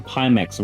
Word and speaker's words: Pimax: po6 says there's a reason pimax rhymes with anticlimax for the people who